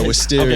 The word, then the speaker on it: Wisteria: Yeah, Wisteria.